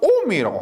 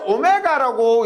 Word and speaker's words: 옴: 단위는 오메가라고 하는데, 오메가라 하지 않고 우리가 옴이라고 합니다. 이것을 우리 읽을 때 오메가라고 읽을 때 있는데, 전기를 공부할 때는 오메가라 하지 않고 옴, 저항의 단위는 옴이라 그럽니다.